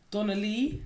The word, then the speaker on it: Donalee: It's a female this week, and she rightly so is getting my number one, because Donna Lee, spelled like DONALEE.